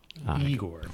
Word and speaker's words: Igor: Igor. Nope. Now it's pronounced Igor.